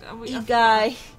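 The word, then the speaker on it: Egi: essence of primals called Edgy. Eggy? Edgy? I forgot already. We looked up how we pronounce it. Egai.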